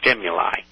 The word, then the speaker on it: stimuli: We used to have a big argument about that in Latin when I was a kid, but it's stimuli. A-E on the end. That's pronounced as I in Latin.